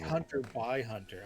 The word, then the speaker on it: Hunter x Hunter: peak of hipsterdom and stop pronouncing the X. Hunter? For a long time, it was like a meme that you had to pronounce it that way or you're like a casual. But this is like... It's Hunter by Hunter.